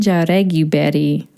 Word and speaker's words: Jaureguiberry: Let me first pronounce Christine's name because I've been working on it. It's Christine Jaureguiberry.